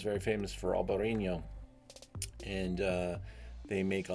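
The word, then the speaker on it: Albariño: and it's not really pronounced that way but albarino is how you pronounce it just got an h-o on the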